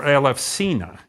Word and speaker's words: Elefsina: pronounce names Aleph SACEUR elefsina is what the Greeks will call this place turning the epsilon our letter U into a an F sound it looks like a